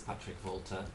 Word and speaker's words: Patrick Volta: And also we have a psychologist, Patrick Volta. I hope I said it right. That is correct. If you could introduce yourself to our viewers. Yes, my name is Patrick Volta, and I am a chief executive of a